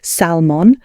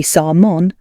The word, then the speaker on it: salmon: for example some Learners say salmon with the l sound but it should be salmon without the l sound